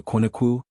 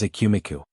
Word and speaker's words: Ekumeku: O to Aquinuku, League of the Silent Ones. British tongues mispronounced it as a kumiku.